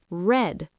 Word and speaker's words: read: But the past tense is spelled the same r e a d, but pronounced red like the color.